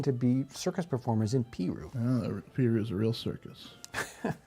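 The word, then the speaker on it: Peru: This is the town of Piru. Okay? So it's not possibly how you would expect that anybody would ever pronounce it.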